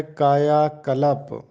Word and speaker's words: کایا کلپ: 1165۔ پہلی معروضی ہے درست تلفظ بتانا ہے کایا کلپ۔ درست تلفظ ہے کایا کلپ۔ کایا کلپ کا مطلب